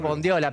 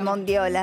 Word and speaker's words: bondiola: mayonesa o la mayonesa la palabra es bondiola pero mondiola es hermosa mondiola es hermosa Pero no no existe mondiola tengo miedo decirlo mal